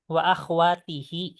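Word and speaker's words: أخواته: wa akhwa itu kan pakai ta ya jadi apa wawati akwatih wa akhwatihi oh wa akhwatihi i iya jadi kalau misalnya apa namanya sebelum h itu kasrah maka h-nya jadi kasrah ya oh gitu ustaz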